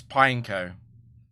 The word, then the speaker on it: Pineco: it's pineco but um I thought pineo was just a madeup word so I was like oh it's two syllables and it's either pineco or pineco like the p I and the neco or pineco that just sounds weird. I don't know. Like I would not look at that word and think it's a single syllable. Apparently it's pineco.